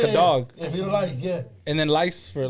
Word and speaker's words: firulais: It's spelled FIRULAIS. Fetal lace? Like Fetal Frito lice. lace? No. Fetal Lice. LAIS.